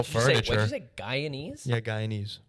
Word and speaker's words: Guyanese: there's a guyanese yeah guyanese from guyana ah did not know that that was the pronunciation of uh someone from guyana when you work at